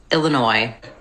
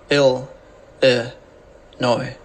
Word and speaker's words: Illinois: Illinois this video we'll look at how to pronounce Chicago and Illinois ill noi Illinois hey there besties we got to talk